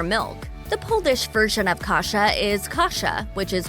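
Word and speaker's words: kasza: The Polish version of kasha is kasha, which is pronounced the same but spelled with a z instead of an h.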